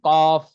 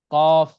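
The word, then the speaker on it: قاف: কি বলল জিহ্বার গোড়া এই গোড়ার উপরের যে তালু আছে এর সাথে লাগাইয়া কফ উচ্চারণ করতে হয় যেমন কফ কফ কফ হ্যাঁ উচ্চারণ গুলো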